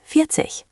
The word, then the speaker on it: vierzig: Vierzehn versus vierzig.